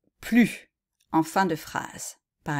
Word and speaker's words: plus: danse plus que le tennis voilà vous pouvez essayer de